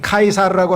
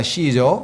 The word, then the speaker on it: 카이사르: 라틴어 철자 C는 라틴어에서는 K로 발음이 되고 영어로 가면 이게 S자로 발음이 돼서 그래요.